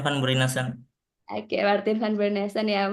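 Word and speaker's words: van Bruinessen: pencarian wacana baru karya Martin Van brunesen ini bacanya Gimana nih Mas Huda Iya Martin Van beron Oke Martin Van beron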